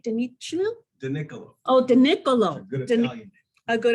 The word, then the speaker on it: DiNicolo: He is a co-founder and partner of Richardson and Ober, and am I pronouncing this right? DiNicolo? DiNicolo. Oh, DiNicolo.